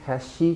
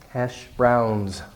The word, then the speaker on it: hash browns: might do has she don't say has she because that might sound like like hashish which is an illegal drug it's kind of like marijuana but it's more concentrated and stronger hashish you don't want to be misunderstood they're hash browns Dimity buzz light your